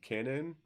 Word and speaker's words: Canaan: Okay, so Bitcoin is primarily mined in China, which also there is a company called Canon, or I'm not for sure exactly how I pronounce it.